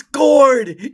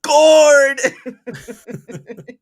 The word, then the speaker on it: gourd: And you're just sitting there like crying out of your mind like it's it rhymes with cord.